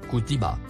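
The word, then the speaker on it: كُتِبَ: Le premier mot en surbrillance bleue, se prononce, kutiba.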